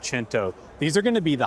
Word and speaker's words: Cento: Looks like Cento, pronounced Cento.